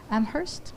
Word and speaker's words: Amherst: So happy to welcome Curt Griffin, who's a professor of wildlife ecology and conservation at University of Massachusetts Amherst.